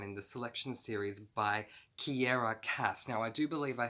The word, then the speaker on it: Kiera Cass: the Selection series by Kiera Cass. Now, I do believe I said in my April TBR that her name is Sierra Cass. It's not. It's Kiera Cass.